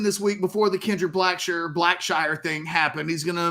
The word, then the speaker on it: Blackshire: It's properly pronounced Kendrick Black Shire. Okay. It is the more formal pronunciation, Black Shire.